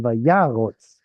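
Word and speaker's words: וַיָּרׇץ: So here's your stress by ya, and therefore this is unstressed closed syllable, kamatz katan vayarotz. Why is it there?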